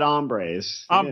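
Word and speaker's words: hombres: talking about the wall did he actually pronounce the h no he said bad ombres H I said HR yeah would have been much funnier if he said HR silent h i don't speak Spanish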